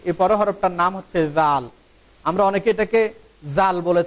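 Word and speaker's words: ذال: এই হরফটার উচ্চারণ হবে জিহ্বার আগা সামনের উপরের 2 দাঁতের আগার সাথে সম্পৃক্ত হয়ে এই হরফটির উচ্চারণ হবে জাল জাল জাল।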